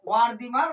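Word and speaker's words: Wertheimer: আর হচ্ছে কোহলার আর আরেকজন হচ্ছে ভারদিমার বা ভারদিমার বা ওয়ারদিমার বিভিন্ন বইয়েতে বিভিন্ন নাম থাকতে পারে কারণ এটা জার্মান ভাষায় ওয়ার্ডের বাংলা ট্রান্সলেট করে অনেক সময় সঠিক উচ্চারণ আসে না কাফকা কোহলার ওয়ারদিমার বা ওয়ারদিমার কোন কোন বইয়ে ভারদিমার থাকতে পারে তিনটেই কিন্তু ঠিক কাপকা কোহলার ওয়ার্দিমার এই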